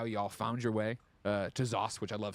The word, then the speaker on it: ZOS: talking about how y'all found your way to ZOS, which I love saying, by the way. I didn't know that was how we pronounce it.